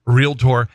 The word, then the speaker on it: realtor: syllables. It's realtor, and it's not jewelry.